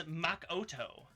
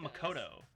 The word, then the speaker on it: Makoto: She pronounces words wrong too, though. I know. She says Makoto, not Makoto.